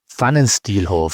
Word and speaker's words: Pfannenstielhof: Pfannenstielhof. Yeah, sorry, everyone. It starts with a P and an F.